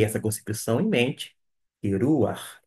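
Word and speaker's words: רוּחַ: é um Pat aqui Note que eu pronunciei eu pronunciei R eu não da forma como eu falei até então consoante vogal consoante vogal pelo contrário ruar acabou que ficou o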